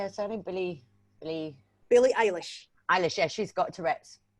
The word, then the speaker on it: Eilish: But Billie Irish, how do you say her surname? Billie Eilish.